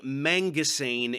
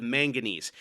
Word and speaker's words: manganese: names of the elements he's saying mangasan instead of Manganese he says silicone instead